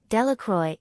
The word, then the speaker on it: Delacroix: Bobby and Harry Jones and Dickie Delacroix, the villagers pronounced this name, Delacroix, eventually made a great